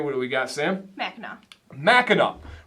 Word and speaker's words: Mackinac: Angeles see bacchanal island ends with a W like it probably should be spelled but this is Mackinac this one is my